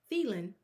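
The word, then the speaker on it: Thielen: Um and and now right you go and get a wide receiver and Adam um Thelen is how you say it.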